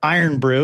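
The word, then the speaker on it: Irn-Bru: If you've never had Iron Brew is another way to pronounce it.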